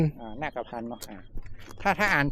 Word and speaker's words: นาคพันธ์: อ่าน ว่า อะไร ครับ อ่าน ว่า นคร โยนก นาพันธ์ อ่า นาคพันธ์ เนาะ อ่า ถ้า ถ้า อ่าน ผิด นี่ โทษ